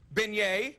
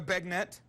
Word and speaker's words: beignet: go ahead uh uh beignet we know it's beignet it's it's not uh bagnet uh chipotle it's not